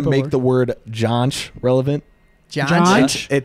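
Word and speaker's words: Junj: Jaunch. It's pronounced jaunch, but it's spelled J-U-N-J.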